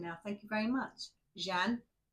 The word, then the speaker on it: Jeanne: So it's Jeanne. Jeanne. I'm so pleased I've got that right.